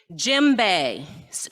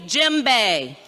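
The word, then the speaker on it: djembe: of that drum but it starts with a d but it's pronounced jimbei repeat after me jim bay all right what's the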